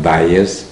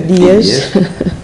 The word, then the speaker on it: Dias: Tive que lhe ensinar como é que se dizia o nome, porque eles pronunciavam Dias. Ele disse, não é nada Dias, é Dias, que é hoje o presidente dessa fundação.